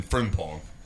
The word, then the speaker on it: Frimpong: And then Frimpong. Kind of like ping pong, but Frim.